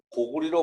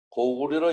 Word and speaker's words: 고구려: 그래서 고구려를 고구리로 발음하였다고 주장하는 주장도 있습니다. 고리 그렇게 했다고 주장하는 내용이 있어요. 그래서 그 내용을 좀 읽어보겠습니다. 한자는 같은 글자도 여러 가지로 소리가 난다. 옛날에는 고구리로 읽었다.